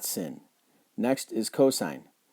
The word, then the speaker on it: cosine: not sin next is cosine we're going to call it cosine not cos we're going to call